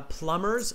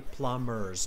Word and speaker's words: plumbers: you do it uh plumbers silent v okay plumbers no b that's why i forgot to write it so silent b okay plumbers no b no b sound okay all right uh